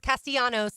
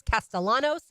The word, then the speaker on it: Castellanos: 2 of another, because I've heard it pronounced Castellanos a lot over the last few days. And I just wanted to set the record straight. It is Thomas Castellanos, and he will be the FSU quarterback.